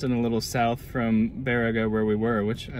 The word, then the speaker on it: Baraga: drove basically west and a little south from verago where we were which i learned is the correct pronunciation not boraga like we were saying we are just south